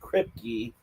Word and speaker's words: Kripke: character on there is Barry Kripke. I think Oh, that's how you pronounce his name.